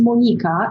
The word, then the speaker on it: Monika: serve what's going on my name is actually pronounced monica in my mother country so sorry no worries